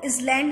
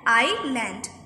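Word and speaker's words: island: एल ए एन टी, कोई इसको इसलैंड नहीं पड़ेगा, इस और लैंड नहीं पढ़ते, इसको हम पढ़ते हैं आई लैंड, एस हमारा इसमें साइलेंट रहता है, तो आई लैंड, दे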